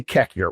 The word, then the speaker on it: Koechner: Cockner. Okay, that's how you should. Now, let's go through it. It's K O E C H N R. I say Kekner, which is incorrect.